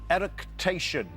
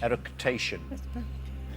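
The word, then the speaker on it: eructation: Erication is the technical term for which bodily function?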